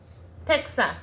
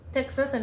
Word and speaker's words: Texas: So the X would have evolved from the English X sound or KS sound to a H sound. So we're looking at the word Texas and it translates to be or to sound as with a H sound or a J sound.